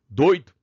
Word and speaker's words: doido: Doido.